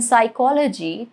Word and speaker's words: psychology: Or why is the P in psychology totally silent?